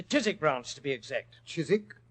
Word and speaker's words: Chiswick: Chiswick? It was originally pronounced Chiswick, Watson, and it's still so spelled.